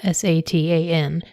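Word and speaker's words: שטן: So the word in Hebrew that is translated into Satan here in Job is the Hebrew word Satan. It's also spelled S A T A N but it's pronounced Satan.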